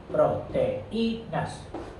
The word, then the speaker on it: proteínas: Tiene hiato, proteínas. Hay que poner acento en la I para que se separe de la E.